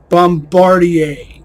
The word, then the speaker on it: Bombardier: it's fun for me Bombardier and yes that is the correct way to say it because it comes from a French name a French name that became a word this was well obviously